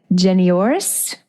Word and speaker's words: Janoiris: the creative Warrior podcast we are speaking with jenoris and I probably didn't do that great but so let pronounce your name the correct pronunciation no you